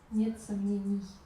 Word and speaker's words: сомнений: How to pronounce it? Нет сомнения. Нет сомнений. Sonneni.